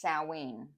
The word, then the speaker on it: Samhain: the Festival of s it spelled like Sam hay but it's Sween I'm on the Kelts